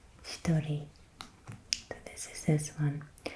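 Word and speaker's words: 一人: So the first example that we had on the last page meant one person, and it is pronounced hitori, hitori.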